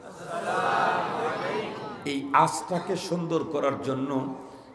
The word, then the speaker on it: আসসালামু আলাইকুম: সব ক্লিয়ার হয়ে যাবে সালামের সময় শুরুর হামজাকে স্পষ্ট উচ্চারণ করেই সালাম দিতে হবে আসসালামু আলাইকুম বলেন আসসালামু আলাইকুম এই আজকে সুন্দর করার